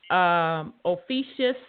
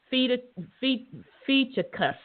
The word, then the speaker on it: Ophiuchus: Ophiuchus, or some say Ophiuchus. So I've heard it pronounced different ways.